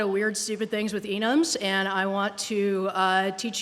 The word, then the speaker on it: enum: Since I tend to look at it as a standalone word which is related to enumeration, but not an actual abbreviation for it, I pronounce it enum.